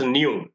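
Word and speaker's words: ν: So this is pronounced as, this symbol is pronounced as nu. Frequency is denoted with the symbol nu and is measured in terms of cycles per second.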